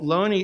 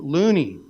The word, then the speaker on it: Looney: in in recent publications so Lonnie is has been established for decades as the correct pronunciation in in the United States however Loney's grandson and his family Catherine sharp found out pronounced the name loony yeah with pride yes